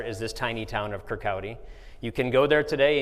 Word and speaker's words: Kirkcaldy: He was born in this tiny town called Kirkcaldy. That's how that's pronounced in Scotland.